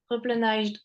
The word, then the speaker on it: replenished: Alors, dis-toi que quand t'as ED, avant Ouais. une consonne comme un S, ça se prononce D. Parfois, quand la consonne va changer, le ED va se prononcer T, etc., etc. Ici, Ok. tu vas enlever juste le H et prononcer de, replenished.